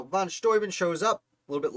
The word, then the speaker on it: von Steuben: find him number 29 baron von storben i believe it's pronounced now von storman shows up a little